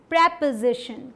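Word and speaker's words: preposition: प्रेपोजिशन। क्या पढ़ते हैं? प्रेपोजिशन, प्रेपोजिशन, ठीक। कहाँ पे स्ट्रेस देना है? यहाँ पे।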